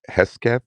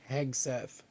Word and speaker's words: Hegseth: Is it Hesketh? Is that how do you pronounce his name? Hegseth. Hegseth. Thank you.